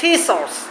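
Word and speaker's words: teachers: টিচারস উই আর টিচারস কি উচ্চারণ হবে ঠ এর মতো উই আর টিচারস উই আর টিচারস টিচারস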